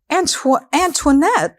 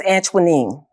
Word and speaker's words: Anuanine: Anuanette. No, my name is Anuanine.